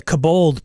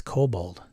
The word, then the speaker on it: Kobold: the kabold by the cabold Press it's the cabold Press that's not how it's pronounced Sean it's kobold is it um yeah